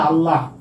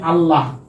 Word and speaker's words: আল্লাহ: যেমন আমরা বলি না আল্লাহ আমরা বলি আল্লাহ আল্লাহতে হ আছে তাইতো আল্লাহ কিন্তু আমরা উচ্চারণ করার সময় কি বলি ওরে আল্লাহ মানে আমরা এই যে হটা উচ্চারণ করি না ক্লিয়ার তারপরে হচ্ছে একটা